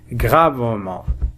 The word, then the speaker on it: gravement: Et s'est blessé gravement. T on ne la prononce pas.